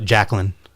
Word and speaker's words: Jacklin: How do you pronounce his last name? Jacklin.